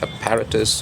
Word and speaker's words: apparatus: Okay, so apparatus and apparatus, both are fine it seems, but the standard pronunciation, the preferred pronunciation is apparatus.